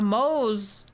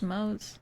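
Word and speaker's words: Mohs: has a m Mo a moose is it it's pronounced Mo hardness of 6.5 nice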